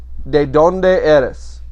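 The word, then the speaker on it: ¿De dónde eres?: first vocabulary word is de donde eres de donde eres de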